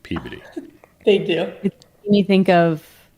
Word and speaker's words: Peabody: No one can say it correctly, but it's beautiful. Yeah, it's named after George Peabody, Miss Tiffany, but they pronounce it Peabody.